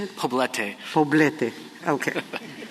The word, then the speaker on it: Poblete: I'm pronouncing it wrong, Poblete, P-O-B-L-E-T-E. Federal law, well, how do you say it? Poblete. Poblete, okay. I should have said it in Spanish to start with. It is poblete.